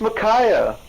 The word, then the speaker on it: Micaiah: can't put out her name right how you pronounce it then it's micaiah I knew that I was testing you oh